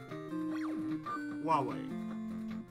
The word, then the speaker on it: Huawei: Like say the word Huawei, which is spelled H-U-A-W-E-I.